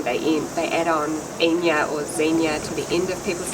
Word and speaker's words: Zeenya: So in Portuguese, it would be spelled Zinha, which would be Zinha, wouldn't be pronounced right. So we wanted people to say Zeenya, so we changed the spelling.